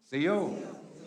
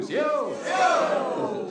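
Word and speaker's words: Osiyo: C-O. Say it like you mean it too. C-O.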